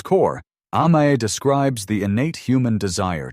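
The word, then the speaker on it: 甘え: It pronounced amae, it is a notoriously difficult word to translate into English. At its core, amae describes the innate human desire to depend completely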